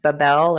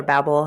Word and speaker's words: Babel: Like last night I watched Babel or Babel, however you want to pronounce it, right?